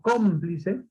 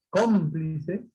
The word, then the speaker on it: cómplice: Por ejemplo, cuando digo cómplice, cómplice, ahí, ¿dónde está el acento, la mayor fuerza de voz? En la sílaba com.